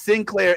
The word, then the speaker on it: Sinclair: Now, to be clear, like Jazz is Sinclair, Sinclair. Yaz, our buddy Yaz, is Saint Clair, Saint. Oh, okay. Clair. Yeah. Okay. I spell it ST period CLAIR.